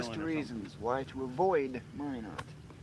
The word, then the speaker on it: Minot: Minot. Minot. Minot. Why not Minot? I kept There's thinking a the miles T was long silent list of or something. reasons why to avoid Minot.